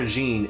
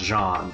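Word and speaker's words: Jeane: that is eliminate I keep calling her jeene it is supposed to be pronounced Jean like it's like actual French Jean it's the lemon one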